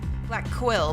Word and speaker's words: Blackquill: Black Quill, but I guess if I say it fast enough, guys, it sounds like Blackwell. Is that okay? I'm not saying Blackwell. It's just the way I pronounce things.